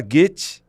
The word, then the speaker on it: Goethe: Se fala Goethe, mas o que se escreve assim, tem um trema em cima do O ali, por isso que se fala assim.